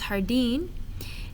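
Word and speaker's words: jardín: is some pronunciation errors remember that js are pronounced like h's so this is hardine and our a sounds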